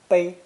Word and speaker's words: 背: When pronounced first tone, 背, this character means to carry on one's back, to bear or shoulder responsibility.